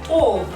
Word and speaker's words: of: Of, O-F. Its pronunciation is of. Spelling is F, but pronunciation is with B.